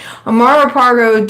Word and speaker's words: Amaro Pargo: But Amaro, I keep wanting to say Amaro Pargo. It rhymes so easy. Amaro Pargo died in October 1747.